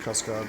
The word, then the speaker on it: Cascade: Well, it's Cascade, but it's supposed to be pronounced Cascade, but like the French.